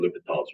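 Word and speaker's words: L'Hôpital: Sometimes it's spelled L apostrophe hospital. Pronunciation here is going to be L'Hopital's rule.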